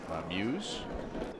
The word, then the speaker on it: Muise: Thank And do we know the pronunciation of the last name? Muise. Yeah. Okay. I thought it might be Muise.